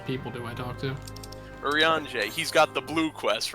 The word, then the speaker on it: Urianger: Urianger. He's got the blue quest, remember? No, it ended in ER. It's a funny kind of Frenchy pronunciation. It's Urianger.